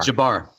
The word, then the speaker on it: Jabbar: Am I pronouncing his name right? Jabbar or Jabbar? Jabbar.